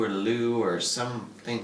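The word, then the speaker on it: leu: Well, when you pronounce it singularly, it's like Liu or Lu or something pronounced like that. However, when you pronounce it plurally, it's lei, like 15 lei.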